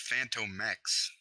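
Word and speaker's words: Phantomex: That's how you get Phantomax. Oh, and it's pronounced Phantom Mex.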